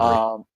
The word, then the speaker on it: Gnabry: Serge Gnabry, however the fuck you pronounce his last name. It's Gnabry.